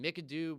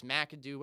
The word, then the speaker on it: McAdoo: a goner too then I keep calling Mick a do but it's McAdoo ever his last name is pronounced for the New York